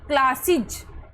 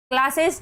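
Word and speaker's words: classes: जैसे क्लास हो गया क्लासिज, क्लासेस नहीं पढ़ना इसको, ये हो गया क्लासिज।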